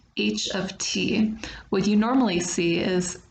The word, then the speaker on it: h(t): you might be confused about is how I pronounce the beginning of the equation it looks like it says H times T but actually it does does not mean each